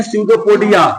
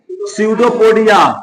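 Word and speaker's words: pseudopodia: किसको से जी फुटपाद इसको इंग्लिश में बोलते हैं सडोपोडिया क्या बोलते हैं सडोपोडिया पी साइलेंट है ठीक है क्या बोलते हैं इसको?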